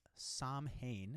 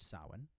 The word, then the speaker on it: Samhain: refer to halloween as samhain is what it looks like but it's pronounced sawin and there was this